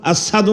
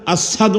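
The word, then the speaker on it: أشهد: শুদ্ধ না শুদ্ধ না অশুদ্ধ শুদ্ধ বেলাল সিন উচ্চারণ করতে পারতো না আসহাদু আন্না বলতো আসহাদু আল্লা ইলাহা ইল্লাল্লাহ বলতো কিন্তু কোন সিয়াবা ভুল ধরে নাই আমার নবী বলছেন এটা উচ্চারণ এভাবে আশাদু আল্লাহ বেলাল আশহাদু আল্লা ইলাহা ইল্লাল্লাহ বলছে কোন মতে যখনই আশহাদু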